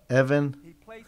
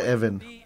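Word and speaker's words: אֶבֶן: Que en azul, en hebreo, Ha es el, Even es piedra.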